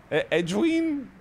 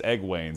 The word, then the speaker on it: Egwene: According to Reddit, it's Egwene, so we can all trust that. Which I love that, if it's Egwene, because then I'm just going to always...